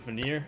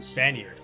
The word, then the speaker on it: Vanir: All right, so where we left off, you arrived at the town of Vanir. I keep saying it wrong. Vanir.